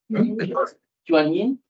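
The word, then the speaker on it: 原因: Reason, the word reason in Chinese, I couldn't dare pronounce it. Could someone indulge me? Yuan Yin. Yuan Yin, I can't do the tones, but it's not.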